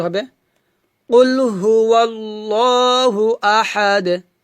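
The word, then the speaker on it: أَحَد: দার হচ্ছে কলকলা হরফ তাই আমাদের এখানে কলকলা করতে হবে তো এভাবে উচ্চারণটা হবে কুলহু আল্লাহু আহাদ আহাদ আহাদ আমার সাথে বলেন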